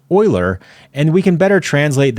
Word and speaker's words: Euler: Now, I understand this looks like Euler, but it's actually pronounced Euler, and we can better translate that into more direct x, y, and z values that our brains can better comprehend.